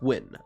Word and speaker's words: Gwynn: Yes, it is pronounced Win.